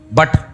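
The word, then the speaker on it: but: है ना अबे भाई पी यू टी पुट पढ़ा जाएगा और बी यू टी पुट पढ़ा जाना चाहिए ना लेकिन पढ़ा क्या जाएगा बट अब कोई कहे ये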